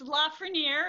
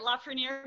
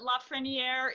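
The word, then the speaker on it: LaFreniere: the meantime we wanted to double check the pronunciation of your last name is it la ferniere it's la for near it's how i say it la for near but la freniere is perfectly acceptable okay move it trust me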